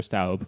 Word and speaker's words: Stubb: came before it alexander alexander stubb or alexander staub i've heard it pronounced both ways to simplify fascism died in 1945.